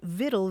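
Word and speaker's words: victuals: But along the way it lost that hard C sound. So it sounded more like vitai. And uh that word for nourishment without the hard C found its way into English. And eventually people spelled it viddle. Vi TL E because that's sort of what it sounded like.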